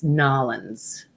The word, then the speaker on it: New Orleans: you know I'm sorry I said it wrong it's nollans no it's we praise nollans